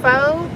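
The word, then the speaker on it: pho: restaurants to tell us that they're spicy different for restaurant see we have some of the restaurants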